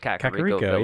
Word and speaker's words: Kakariko: like when you're just in the hills near Kakariko. I know it's Kakariko. Shut up. Village. Is it really actually? That's what Kakariko? Impa says. Kakariko. Impa can suck a fucking. I know. I've always called it Kakariko.